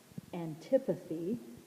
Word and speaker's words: antipathy: group then we have antipathy so here's one word not anti but anti antipathy this path route you